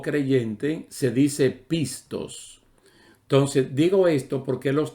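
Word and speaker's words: πιστός: en el mismo griego se escribe y se pronuncia también similar pistis pistis y que la palabra fiel o creyente se dice pistos entonces digo esto porque los tres tienen una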